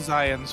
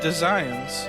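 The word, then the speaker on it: Desians: and attacked the temple it's pronounced the zions for you by the way zions with the z okay it's got a d so i was confused but zion all right i mean the d is pronounced it's designs design i see okay i'm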